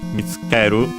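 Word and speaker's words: 見つける: the verb mitsuketa, from mitsukeru. Let's check its accent, but I'm pretty sure it's accented, which means to find. Nope, it's actually unaccented, so mitsukeru.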